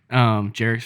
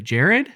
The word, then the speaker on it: Jarek: Jarek's first time there as well. And I overheard them mispronounce his name and say Jared, and he said no, Jarek.